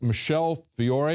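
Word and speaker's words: Michele Fiore: put forward by a state rep there it's Michele Fiori is that how you pronounce her name yes that's right okay tell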